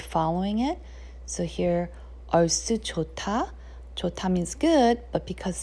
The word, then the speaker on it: 좋다: If you read the letters by itself, it's jota. However, when it's together, you're mixing the sound of this consonant, H sound, and then sound of this consonant, D sound, and it turns into a T sound. So when you're pronouncing it together, it pronounces jota instead of jota.